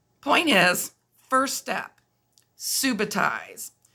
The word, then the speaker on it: subitize: point is first step subitize some people pronounce it Subba ties but this big word